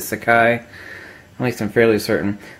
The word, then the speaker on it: Sakai: I'm pronouncing it correctly I know it's not SEI City but Sakai at least I'm fairly